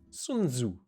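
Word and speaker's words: Sun Tzu: look this up we're learning here how to pronounce sunu wait for it the name of the Chinese military General yeah yeah philosopher sunu sunu okay cool um we will continue following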